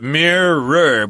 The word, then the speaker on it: mirror: the word mirror but this is a two- syllable word mirror but that's kind of